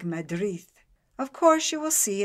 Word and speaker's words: Madrid: through the teeth and what we call Madrid they sound more like Madrid of course you will